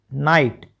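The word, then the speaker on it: knight: silent है जी एच इकट्ठा ये भी तो साइलेंट है तो क्या बचा नाइट एन आई टी नाइट बचा टी एच ओ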